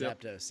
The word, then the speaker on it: Zapdos: beauty of editing yeah that's true that's true Zapdos is that name zaptos zaptos yes yeah Zapdos would be pretty rad I think go on